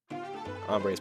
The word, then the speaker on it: hombre: The H is silent. Yeah, hombre. Was I saying hombre? I definitely wasn't trying to. Yeah, the H, almost all H's are silent.